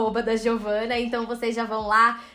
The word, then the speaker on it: Giovanna: pronúncia errada, porque eu tenho zero conhecimentos dessa pronúncia. É doutoressa, tá certo? Doutoressa Giovana, sim.